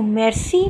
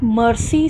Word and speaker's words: merci: am fine Thank You merci means thank you it is not mercy students please be particular about the pronunciation mercy is an English word okay it is merci merci fine Kailash Ave